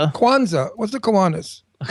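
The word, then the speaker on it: Kwanzaa: First of all, this is a very wonderful time of year because it's Hanukkah, it's Christmas, and it's Kuanas. Quanza. Kwanza.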